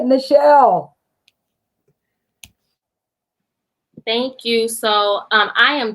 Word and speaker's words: Nichelle: For those that don't know me, I am Nichelle, pronounced like Michelle, and I'm the creator